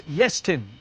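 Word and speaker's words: Iestyn: It's Yestin with the emphasis on the first syllable.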